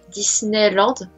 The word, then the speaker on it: Disneyland: son fils alors disneyland on va le prononce à la française disneyland retrait francisé en tgv